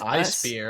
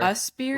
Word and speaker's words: USPEER: I had to look it up how to pronounce it. I thought it was I-spear. USPEER, We but all it's spear.